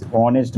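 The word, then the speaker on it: honest: 25-এর হচ্ছে হি ইজ অনেস্ট ম্যান, ও মানে এইচ এর উচ্চারণ নেই, সেই জন্যে কী হবে, অ্যান হবে, অ্যান অনেস্ট ম্যান।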